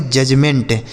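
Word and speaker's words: judgement: जे यू डी जी ई एम ई एन टी इसे पढ़ेंगे जजमेंट। इसे जजमेंट नहीं यहां डी जो साइलेंट है इसे पढ़ेंगे जजमेंट।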